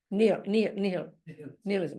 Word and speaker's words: nihilism: Nihilism.